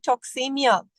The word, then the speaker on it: toxemia: It starts with a T, it rhymes with anemia. What is it? It's all about, come on guys, answer. It's all about toxemia.